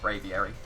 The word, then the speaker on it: Braviary: Like, even if they Dynamax, pretty sure that has a good chance of KOing the Braviary is how it's said.